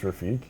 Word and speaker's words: Rafik: Rafik, I know there's a CH yeah. in there, but I don't know how you say it. Is it just Rafik? Yeah, I believe it's just Rafik. Yeah, so that's how we've been told to say it.